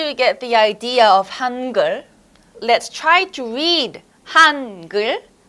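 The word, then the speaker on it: 한글: And this one over here is the l sound. L. L. Put it all together, it's gul. Gul. You get it? Hangeul.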